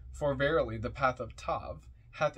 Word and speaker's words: Tav: hearts comment on toab t AV pronounced Tav transcribed as th the